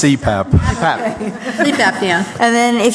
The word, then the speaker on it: CPAP: I think anybody who does, I don't know what that is, but the person who utilizes It's pronounced CPAP.